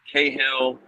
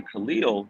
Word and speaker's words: Kahlil: used to that name and so they mis mispronounce it. So I got Cahill, all these kind of things. And my dad said, "No, you correct them." So, right, I I corrected the Khalil, but I also correct him on Martin now,